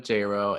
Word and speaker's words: Jayro: You can follow me on Instagram at Jayro. It's JordanJayro. It rhymes with J-Lo.